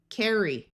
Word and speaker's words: carry: This Y will have the long E sound, carry.